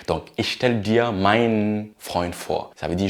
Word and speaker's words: meinen: Alors ici, le meinen, le E-N, se prononce comme un N long. Donc, ich stelle dir meinen Freund vor.